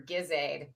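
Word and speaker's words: GISAID: always back to my Soft G for for Bundibugyo, hard G for Gizaid.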